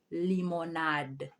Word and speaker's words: limonade: third one is lemonade lemonade in french is limonade limonade and with the article it will be